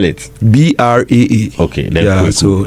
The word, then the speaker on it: Braa: Yeah, so Braa Kwaku on all social media handles. My bra is not the bra that the ladies wear. But spell it. Braa.